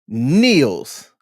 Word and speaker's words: kneel: know American Sign Language, you don't say the K before the N. It's typically the K is silent.